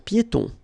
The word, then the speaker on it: piétons: Un passage pour piétons. Un passage pour piétons. Final S here, not pronounced, and then final not pronounced.